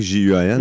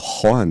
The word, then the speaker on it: Juan: Mais moi, mon nom, c'est Juan, mais tu sais, c'est un J que ça s'écrit J-U-A-N. Ouais, comme en espagnol. Puis en espagnol, c'est Juan, mais les gens disent Juan.